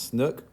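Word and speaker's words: SNCC: And then what's known as Student Nonviolent Coordinating Committee, also known as Snook. I don't know why you actually pronounce the acronym, but you do.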